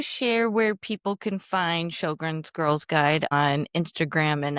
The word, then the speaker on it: Sjogren's: But on Facebook or on Instagram, it's Sjogren's Girls Guide. It does not spelled like it sounds. So it's SJ Sjogren's.